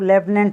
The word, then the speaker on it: lieutenant: बोलने में थोड़ा अलग होता है और जो इसका जो लिखा हुआ था वो ही अलग होता है, ठीक है।